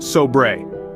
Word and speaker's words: sobre: It's pronounced sobre.